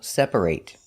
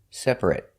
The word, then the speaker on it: separate: and sometimes pronounced it if it's a verb it's pronounced eight example separate if it's not a verb an adjective for example it's pronounced it separate we're going to practice